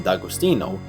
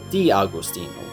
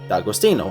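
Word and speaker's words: D'Agostino: followed by an aposto you pronounce it like it's the same word so dagostino in this case gu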